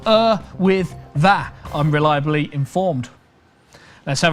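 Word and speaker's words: Yr Wyddfa: prefer snowden or erwither spelt y-r-w-y-d-d-f-a but pronounced er with that i'm reliably informed let's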